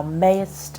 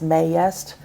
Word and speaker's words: mayst: this right here maced the way Shakespeare wrote it we should say it as one syllable thou mayst when I we kind of want to draw it into two syllables may yest but it's not it's one syllable missed so this is I